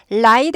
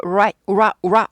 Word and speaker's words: right: light after 아니죠. light은 가벼운이나 빛이란 소리예요. light after 아니고 right, ra예요. 우라인데 우를 짧게 10분의 1만 발음하시고 10분의 1만 짧게 하시는 거.